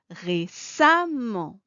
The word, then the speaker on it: récemment: chose avec l'adjectif récent on ajoute le suffix amant avec la même orthographe et on obtient l'adverbe récemment qu'on prononce récemment mais que serait une règle